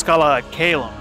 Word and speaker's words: Scala ad Caelum: Oh, it's Scala and Caelum.